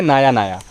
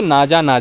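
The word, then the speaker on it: Naja: इस्तेमाल नहीं करूँगा मैं, लैटिन भाषा में जो उसका प्रोनाउंसिएशन है वो है नाया। लेकिन अंग्रेज़ी जो ब्रिटेन में बोली जाती है या जो भारत में बोली जाती है, वहाँ की भाषा में अगर आप इसे प्रोनाउंस करें तो नाजा ही होगा प्रोनाउंसिएशन उसका।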